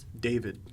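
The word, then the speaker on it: Dafydd: d-a-f-y-d-d -a-f-y-d-d yeah g-a-f-y-dd that's a name David looking at you Dave David son yeah um what about eight David it couldn't just be David it had to have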